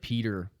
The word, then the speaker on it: Petr: there it's uh piotr peter petrae yawn so many pronunciations for his name i believe that it's actually piotre um most people just call him peter i believe on the